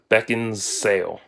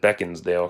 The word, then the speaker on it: Beckinsale: Beckinsale Beckinsale or however I always said beckons Dale cuz it's it's Alice always pronounced on TV half the time though Kate beckons daily okay and I'm looking really where's the D so if you aren't